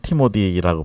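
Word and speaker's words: Timothy: 예, 우리 그 태은 전도사, 티모디, 영어로는 티모디라고 발음하죠, 그죠?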